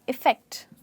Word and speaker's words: effect: और इसकी प्रोनाउंसिएशन में आप ई बोलेंगे और फैक्ट, आप कहेंगे इफेक्ट।